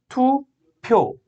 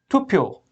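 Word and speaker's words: 투표: with a two sound fourth tu pyo and pu after two then it becomes tu pyo tu pyo tupio tupio means vote repeat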